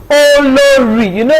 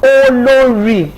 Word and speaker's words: Olori: So let me formally, officially do another introduction of Olori. I kept the emphasis on Olori, so you understand.